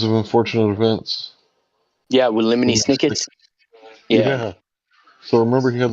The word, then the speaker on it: Lemony Snicket: You know, it's funny that his name rhymes exactly syllable for syllable with Jiminy Cricket.